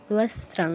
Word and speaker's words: বস্ত্রাং: বস্ত্রাং, বস্ত্রাং বলা যাবে না, দন্তস্ব রফলার উচ্চারণ করা যাবে না। দন্তস্ব রফলা ঠিক আছে, কিন্তু এর আগে একটা ত আছে, দন্তস্ব তয় রফলা, বস্ত্রাং, বস্ত্রাং নয়।